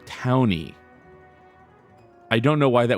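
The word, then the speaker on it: Taunie: Then qu says, "So I think t a u n i e is pronounced towny."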